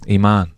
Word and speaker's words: Imaan: Iman. Iman? Iman, it means faith. Faith, and how do we spell that?